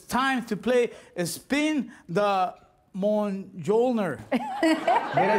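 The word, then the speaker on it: Mjolnir: okay so it's time to play spin the mon jolner did i say it right perfect yeah perfect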